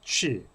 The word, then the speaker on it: qi: 그래서 기라는 영어도 취, 기의 중국어 발음이 취입니다.